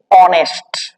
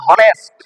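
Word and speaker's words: honest: উচ্চারণ কি হয় গো অনেস্ট দেখ কি আসছে প্রথমে আমরা কেউ কিন্তু বলি না হনেস্ট হনেস্ট ম্যান বলি না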